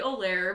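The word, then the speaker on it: Olejar: to spell it because none of you are going to know how to say my name um my name is oair but it's spelled c h l o e and then the last name is o l e j a r so @ olir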